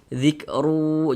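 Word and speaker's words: ذكر: Kita baca zikru. Jangan dibaca zikrun. Jangan. Tapi dibaca zikru begitu bunyi tanwinnya masuk ke huruf wau kemudian didengungkan.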